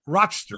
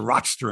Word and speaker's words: Rochester: right across the lake so rochester right not rochester it's rochester isn't that how they say it come on oh i do oh come on i've been to rochester enough times people from rochester say rochester they don't say rochester you're from clifton springs